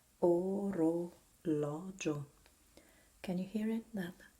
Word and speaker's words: orologio: You pronounce it open, O, when the syllable is stressed.